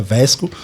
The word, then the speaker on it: Wesco: Então, já respondendo a segunda pergunta, a gente pronuncia Vesco.